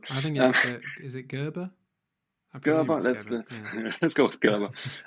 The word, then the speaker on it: Gerber: watch like that, the design files and and GABA files, how do you how do you pronounce that? Like I just walk in with my German accent. That's good. But I think is it Gerber? Gerber.